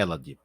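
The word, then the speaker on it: Élade: A pronúncia correta é Elade, era o nome das terras dos helenos.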